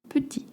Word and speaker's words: petit: And please don't pronounce the T at the end. C'est trop petit.